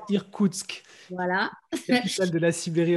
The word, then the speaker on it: Irkoutsk: Alors, je ne saurais pas prononcer ce nom, c'est Irkoutsk. Comment on dit là? Alors, je travaillais à Irkoutsk.